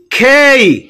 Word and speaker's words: K: খেই খেই খেই এটাকে আমরা কে বলে থাকি, কিন্তু ব্রিটিশরা বা ইংরেজরা এটাকে খেই বলে।